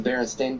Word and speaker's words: Berenstain: believe on the books it's Stain. It's the Berenstain Bears. I don't know, it's been so long. I had it as Steam when I came here, so Yeah. Right, well, and that's how I pronounced it too as a kid. I think it's a misperception, like B was saying. It's a mis. You read it one way, but that's just not actually the way it is.